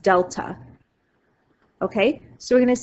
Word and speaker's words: delta: So my constant of variation, we're going to say, is something called, this symbol right here means change, and it's a Greek letter, and it's pronounced delta.